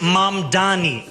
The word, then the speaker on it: Mamdani: His opponents and critics frequently deliberately mispronounce his name to remind white voters he's an outsider. The name is Mam Dani.